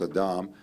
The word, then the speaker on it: Adam: First of all, I loved your thing about Adam, which is the right pronunciation in Hebrew. It's not Adam, it's Adam. Because Adam comes from Adamah.